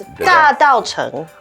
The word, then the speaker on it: Dadaocheng: It's Dadaocheng. Oh, Dadaocheng.